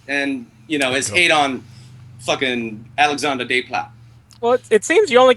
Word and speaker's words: Alexandre Desplat: He hates Alex, and I'm going to pronounce it all Canadian, French, hoity-toity. Alexandre Desplat.